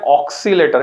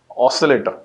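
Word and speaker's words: oscillator: कुछ बच्चे प्रोनाउंस करते हैं ऑक्सीलेटर, इट इज नॉट ऑक्सीलेटर, this is ऑसिलेटर।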